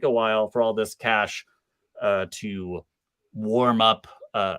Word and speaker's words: cache: everything around us but it is uh c a c h e that's not cache that's J that sounds fancier it does sound fancy here uh but I think the commonly accepted pronunciation in uh in the computer world is just cash all right uh so